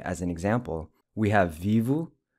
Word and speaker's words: vivo: So summarizing the present tense verb endings for regular ER verbs using viver as an example, we have vivo, the O pronounced with a U sound, vive, the E pronounced